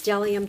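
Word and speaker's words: Bdellium: it's kind of funny it starts with a B but it tells you right here the B is silent so it's delium tools and I won't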